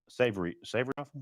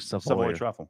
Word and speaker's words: Savoy Truffle: Savory truffle. There is no R. It's like Savoy truffle.